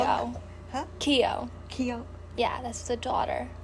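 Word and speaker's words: Keough: Keo. Clark? Huh? Keo.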